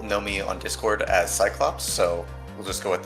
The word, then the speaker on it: Cyclopes8: Most people know me on Discord as Cyclops, so we'll just go with that. C Y C L O P E S. The eight is not necessary. The eight is silent.